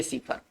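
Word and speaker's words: cipher: सीफर को हम दो तरह से लिख सकते हैं, एक ये सीफर और एक ये सीफर। दोनों का उच्चारण हम पढ़ेंगे सीफर।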